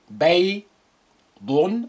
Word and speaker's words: بيض: Note how I pronounce the ya with sukun sound I. بيض بيض.